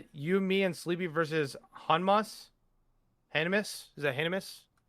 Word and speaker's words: Hanma: it's Yujiro Hanma, not Hamas.